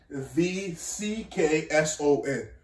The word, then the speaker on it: Jvckson: It's Astro, and then Jvckson is not, it's spelled J. Jvckson. Jvckson.